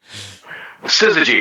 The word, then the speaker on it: Syzygy: How do you How the hell do you pronounce the title? Syzygy.